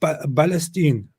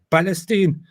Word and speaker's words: Palestine: they would would say balestine Palestine because the lack of the p in Arabic makes them often pronounce it as a b that's the joke when